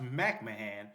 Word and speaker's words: McMahon: My best friend Corey at the time, Cory McMahan, it was spelled McMahon but but pronounced McMahan.